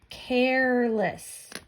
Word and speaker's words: careless: And I see that it's C-A-R. I see the E at the end, which I know if I'm looking at the word care, the silent E makes the A say its name, the long vowel sound.